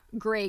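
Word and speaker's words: Greig: this gray goods pronounced gray goods like the color gray in great quantities if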